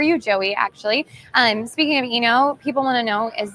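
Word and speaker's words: Oeno: The reason it's called Eno, and it sounds weird because it's spelled O-E-N-O. In the wine world, the science of wine is called enology. So it's spelled O-E-N-O-L-O-G-Y, enology. So it's just short for Eno, O-E-N-O. So drop the O, it's Eno.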